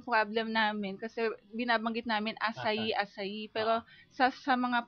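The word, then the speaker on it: açaí: asay ung spelling n Ano ang spelling ng asay a c a i sa atin basa natin akay akay Pero in Brazil it's it pronounce asay Okay so kung halimbawa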